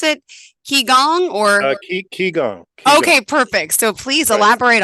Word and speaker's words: Qigong: It says Reiki and how do I pronounce it? Gong or? Qigong.